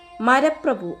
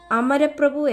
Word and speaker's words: അമരപ്രഭു: ജപിക്കുമ്പോൾ അദ്ദേഹത്തിൻറെ നാവിൽ നിന്ന് മരപ്രഭു എന്ന രീതിയിൽ തെറ്റി ഉച്ചരിക്കപ്പെട്ടത് സംസ്കൃത വ്യാകരണപരമായി അത് ശരിയായ രൂപമായിരുന്നില്ല ഇതുകേട്ട മേൽപത്തൂർ ഭട്ടതിരി തൻറെ പാണ്ഡിത്യത്തിൽ സ്വലപം അഹങ്കാരത്തോടെ പൂന്താനത്തെ പരിഹസിച്ചു നമ്പൂതിരി മരപ്രഭു എന്ന് പറയുന്നത് ശരിയാണോ ഭഗവാൻ മരങ്ങളുടെ മാത്രം നാഥനാണോ ശരിയായ ഉച്ചാരണം അമരപ്രഭു എന്നതാണ് അത് പഠിച്ചുകൊള്ളൂ ഈ വാക്കുകൾ പൂന്താനത്തെ വളരെ